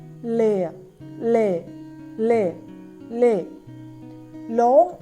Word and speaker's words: læge: G is softened, but it is also fading sound, fading oo sound.